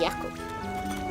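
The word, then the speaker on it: Jakob: sake yakob yes he's yakob when German the J's are pronounced Fu I'm so sick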